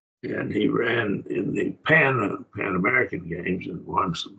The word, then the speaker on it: pan: pan as a prefix p a n pon pon in Greek but we pronounce it pan in English uh and I remember